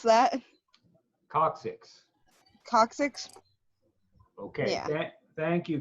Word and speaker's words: coccyx: And then number 8 is the how do I pronounce that? Coccyx.